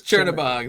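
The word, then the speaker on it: Chernabog: I don't know how to say it. It's like Chernigob or something like that. There it is. Chernobog. There it is.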